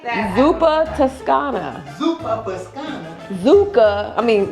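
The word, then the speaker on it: Zuppa Toscana: you that is how you pronounce it zupa spelled like that zupa Tuscana zupa Pana zuka I mean now you got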